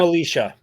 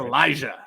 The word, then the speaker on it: Elijah: And then don't call him Alicia. Don't call him Alicia. It's Elijah. Uh, even though it's spelled kind of funky.